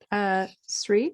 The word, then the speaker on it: Sri: Sri, I hope I'm pronouncing your name correctly.